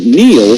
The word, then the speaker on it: Neil: It's no coincidence that Neil rhymes with deal, because that's something you